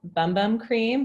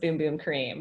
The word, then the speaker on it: Bum Bum Cream: our hero product is bum bum cream but pronounced boom boom cream very important that's the Portuguese is very nerdy mmm